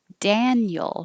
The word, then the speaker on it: Daniel: Daniel, Daniel. The vowel is Dan. Daniel.